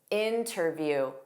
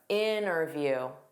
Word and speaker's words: interview: So listen to this clip and you tell me if the T is pronounced or isn't pronounced.